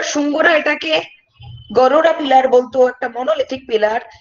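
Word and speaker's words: Garuda: Next question, the Shunga ruler Bhaga erected a monolithic Garura, এটার উচ্চারণটা হচ্ছে গারুরা।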